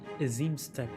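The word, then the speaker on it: Azim Steppe: hien seen and spoken with him on the aim step aim step okay that's how it's pronounced boundless and merciful Ki The Young Master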